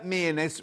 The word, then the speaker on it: Mearness: Mearness rhymes with sheerness.